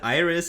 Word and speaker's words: AIRIS: Is it Iris? Is it Aris? Yeah, I personally I call it Iris. I know other people call it Eris, and that's fine.